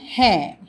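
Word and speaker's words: हैं: அதாவது இறுதி எழுத்து அ என்ற ஒலியில் முடிவதாக இருந்தால் அது பாதியாக உச்சரிக்கப்படுகின்றது. சரியா? ய கலம் ஹே, இது பேனா.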